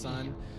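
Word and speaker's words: Sunn: on the podcast before there's a band called son yeah as unn and then there's an O with a bunch of parentheses it's just pronounced son Nick and I went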